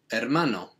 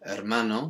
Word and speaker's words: hermano: remembering that the h is always silent in spanish and that means the brother is you guessed it hermano so we just change